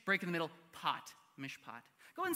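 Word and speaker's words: מִשְׁפָּט: word of all time uh this word is pronounced Mish pot Hebrew goes right to left so we're starting over here Mish break in the middle pot Mish poot go and say Mish poot with me on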